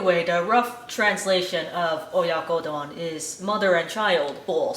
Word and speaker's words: Oyakodon: Oyakodon. Oyakodon. Oyakodon.